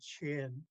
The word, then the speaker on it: chin: So, so I still like the I in chin, even though the textbooks have it CHAN.